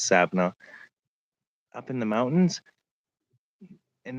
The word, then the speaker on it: Savannah: Now, they're native, but they were driving up the hills around Savannah, or some people pronounce it Savona, but it's Savannah, up in the mountains.